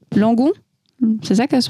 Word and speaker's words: Langon: Donc c'est pas à Bordeaux même, c'est à Langon. C'est ça que se prononce Kevin.